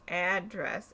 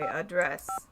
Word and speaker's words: address: Anyways, as I was going to say, I'm pretty sure when you say the word address as a noun, it's pronounced address. And when it's a verb, you say address.